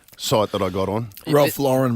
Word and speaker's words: Ralph Lauren: that I got on Ralph Lauren by the way is how you pronounce it is it is it